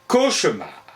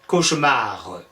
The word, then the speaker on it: cauchemar: On prononçait bien le E de cauchemar. Mais, visiblement, lui, il trouve qu'il ne faut plus le prononcer.